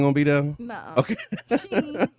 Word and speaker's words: Shein: used by Temu and how you say it, Shein or Shine? I always Shine. Sheen. It's Sheen. Sheen.